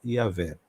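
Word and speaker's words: Yahweh: mais próxima do original a pronúncia mais próxima do original seja yavé Porque existe essas diferentes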